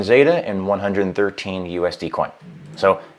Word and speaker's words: XETA: It's not XETA, excuse me. We pronounce it with a Z, but we spell it with an X.